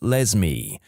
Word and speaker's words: Lesme: My mum is a public school librarian, and the cringiest name she's encountered so far is a girl named Lesme, pronounced like Leslie but with an M.